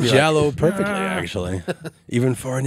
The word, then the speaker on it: giallo: No, you said giallo perfectly, actually, even for an English speaking American.